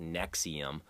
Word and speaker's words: NXIVM: That NXIVM, it's actually pronounced Nexium, that stupid sex cult thing.